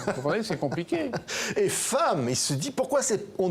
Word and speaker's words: femme: camarades, F-E-2-M-E se prononce femme. Et il dit, mais il n'y a pas de A dans femme.